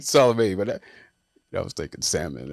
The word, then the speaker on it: Salome: And I wanted to hear him say how it's pronounced. I mean, he said Salome, but I was thinking salmon or so. Salami.